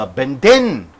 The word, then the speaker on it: abandon: give done so if since it is a verb the last syllable should be stressed so abandon what is the synonym